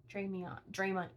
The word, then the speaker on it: Hermione: And that's Hermione. It's Hermione. Sometimes I say it wrong.